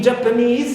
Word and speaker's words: Japanese: Also is, like in Japanese. So knees here also is stressed.